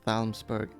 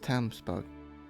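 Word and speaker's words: Talmberg: I don't want to go to Thalmsburg anyway. So, why did I say it like that? It's just Tamsburg.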